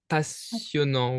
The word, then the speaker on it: passionnant: So passionnant, oui. Passionnant. So be careful with the double S's. It is only pronounced like as an S. So you would say passionnant, okay?